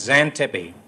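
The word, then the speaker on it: Xantippe: you've decided upon it's not Porche no it's Zan Tippi and it's spelled x a n t i p p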